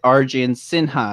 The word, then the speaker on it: Arjun Sinha: I am joined today with Arjun Sinha. Am I pronouncing that properly? Yeah, that's absolutely correct.